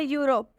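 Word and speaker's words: Europe: और यू क्यों होगा क्योंकि जब इ और यू साथ में होते हैं तो इ यू का उच्चारण यू होता है वेरी गुड चिंटू जब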